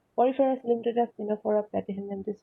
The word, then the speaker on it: Ctenophora: Then there is Ctenophora. C is again silent, Ctenophora.